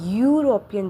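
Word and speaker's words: European: क्योंकि यूरोपियन जो है वह प्रोनाउंसिएशन में वाई यूज़ हो रहा है। यू यू वो प्रोनाउंसिएशन में हम लोग वाई यूज़ कर रहे हैं।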